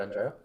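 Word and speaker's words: Andreas: There's an S on the end, but you don't pronounce it.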